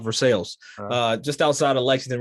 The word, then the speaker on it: Versailles: from lexington area kentucky it's called versailles for the global audience it's spelled versailles yeah but i'm from kentucky so it's country so it comes out for sales uh just outside of